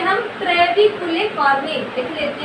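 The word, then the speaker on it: trabeculae carneae: ट्रेविकुले कार्ने क्या बोलती है? ट्रेबिकुलर कार्नाई बोलते हैं, ठीक है, ट्रेबिकुलर कार्नाई बोलते हैं, ठीक है।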